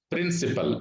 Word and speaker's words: principle: Here, P-R-I-N-C-I-P-L-E, principal. It is also pronounced as principal. It is not at all pronounced as principal. You have to pronounce it as principal, same pronunciation. Principal means it's also a noun.